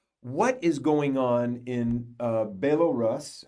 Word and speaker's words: Belarus: Yeah, actually, it used to be in Soviet time Belorusse. Belarus. Now it's Belarus. Belarus. Okay. Republic of Belarus. Republic of Belarus.